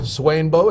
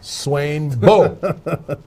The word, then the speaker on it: Swainbo: To my left, Swainbo, Education Rambo. So you do know how it's spelled, right? It's capital S, W-A-I-N, Swain, right. Capital B, Right. and then an O, Swainbo.